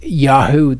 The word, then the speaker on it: Yahu: If they were at the end, it would be Yahu. That would be how it would be pronounced.